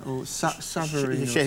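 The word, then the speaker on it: Shivnarine: Savareen. Yeah, that's how it's pronounced in Hindi.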